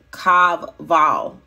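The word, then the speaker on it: חוה: So Eve in Hebrew is Strong's number 2332 and it's pronounced Kavvav. It is spelled Kavvav, C-H-A-V-V-A-H, and it means life giver, first woman.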